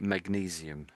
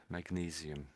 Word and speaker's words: magnesium: So we say magnesium. Magnesium.